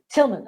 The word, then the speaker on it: Tillman: her work colleague alex is it philman or tillman tillman okay the h is silent right okay uh is